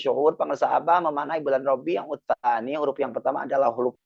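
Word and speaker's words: ربيع الثاني: Jadi kalau cuma ditanya bulan apa ini rabiutsan hilang banyak itu hurufnya maka hilang berkahnya maka kita namanya juga tabaruk ngalap berkah.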